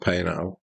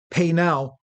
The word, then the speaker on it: Paisnel: believe that's pronounced Paisnel. Is You it? don't pronounce the S.